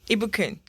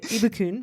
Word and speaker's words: Ibukun: Ibukun. Ibukun, I also go by IBK. I saw that. So first I'm going to try Ibukun, right?